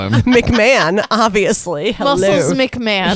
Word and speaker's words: McMahon: say man no no oh mcmahon that's how you say mcmahon mick mahone she said it says h-o-n it's mcmahon or whatever his name is man why would it not be mcman a stupid name anyway